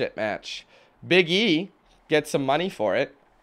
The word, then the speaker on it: Big E: got me Quinn when people say his name it's like biggy L like biggie like biggie like Biggy Smalls kind of but it's big e space e Big E Langston stop it I